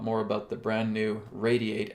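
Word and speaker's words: RAYD8: So I'm going to be talking a lot more about the brand new Radiate app that is coming. That's spelled R-A-Y-D-8.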